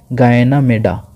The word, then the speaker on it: Ganymede: और पूछेगा which of the following is the largest satellite of the solar system, उसका नाम है गायना मेडा। स्पेलिंग लिखता हूँ, GANYMEDE, गायना मेडा।